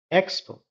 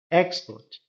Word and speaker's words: export: जैसे कि noun, एक्सपोर्ट जब आप नाउन के रूप में यूज करेंगे इसको आप कहेंगे export, export. तो आपके ए फर्स्ट सिलेबल में स्ट्रेस रहेगा, परंतु जब आप इसको वर्ब के रूप में यूज करते हैं तब आप सेकंड सिलेबल को स्ट्रेस करेंगे.